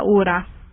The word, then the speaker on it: hora: H's in Spanish are silent, so let's pronounce la hora.